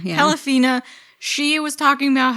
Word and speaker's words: Pelafina: Pelafina, yeah. Pelafina, she was talking about how she gave birth to a baby, and when he was born, he couldn't breathe.